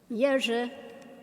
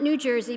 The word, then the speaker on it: Jerzy: Jerzy, Jerzy. Not New Jersey, please, but Jerzy, Jerzy Popiełuszko. Popiełuszko. That wuszko comes from the Polish L. A little line through the L is a W sound. So, Jerzy Popiełuszko.